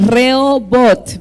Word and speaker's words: Rehobot: Con la H es muda. ¿Cómo se pronuncia? Re, ahorita lo van a poner. Reobot, porque no lleva en inglés. Si lo pronunciamos en inglés sería diferente, ¿verdad?